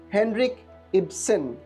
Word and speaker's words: Henrik Ibsen: Henrik Ibsen is the pronunciation.